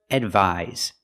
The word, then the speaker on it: advise: The first word advise. The second word advice. So pronunciation the first word with the s has the z sound like zebra.